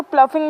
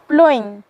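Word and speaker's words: ploughing: पहला प्लोइंग, ठीक है, कुछ लोग इसको प्लफिंग भी बोलते हैं, कुछ अलग अलग, लेकिन इसका मैंने जहाँ तक पढ़ा है उसका इसका ठीक प्रोनाउंसिएशन है प्लोइंग।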